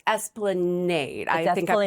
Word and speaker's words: Esplanade: And it's Esplanade. I think I Esplanade.